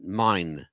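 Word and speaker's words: Mein: Last name is spelled M-E-I-N, Mine. He pronounces it Mine.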